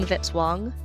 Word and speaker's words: Vitz-Wong: Music by Kevin Vitzwong, rhymes with hit song.